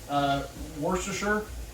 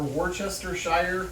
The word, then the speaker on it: Worcestershire: Next phase is Worcestershire, or Worcestershire, if you insist on pronouncing all of the syllables.